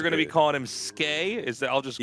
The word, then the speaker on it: Skey: Ski is spelled ski. This is skay. So skay.